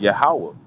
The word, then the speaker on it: Yahweh: saying, and you got the Ya, the Ha, the Wa, and the Ha, which pronounced as Yahweh, you see, but they'll